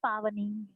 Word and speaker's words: Pavani: It's Pavani. Hi Pavani. Sorry, I'm really sorry for mispronouncing your name.